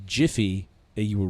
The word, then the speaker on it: Jif: okay all right uh it's jiff you all lost jeff yeah which is spelled